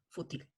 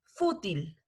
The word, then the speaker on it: fútil: cuarto motivo directo o fútil listo es importante hacer la entonación del acento en donde corresponde es fútil fútil kotil en la listo